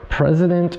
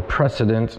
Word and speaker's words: President: These are President or Precedent, depending on how you want to pronounce it, the XT.